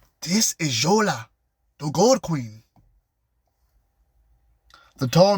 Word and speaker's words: Yola: Yola the queen Yola y o l a Yola Yola we say your